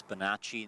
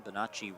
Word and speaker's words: Bonacci: I've changed the second C to an H, so now I know to always pronounce it Chi instead of C.